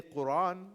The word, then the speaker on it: Quran: So Quran is not really a bad way of pronouncing. That's one of the ways the Quran was revealed. So you can say Quran or you can say Quran.